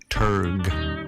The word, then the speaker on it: dramaturge: And we talk with Paul about, first of all, how do you pronounce dramaturge? Turg, you'll find out.